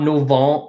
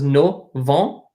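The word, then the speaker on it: novembre: is just wrong so this is not no vol like this is no vault buh so this M is silent in both septembre and no von they're silent okay and then December dishonor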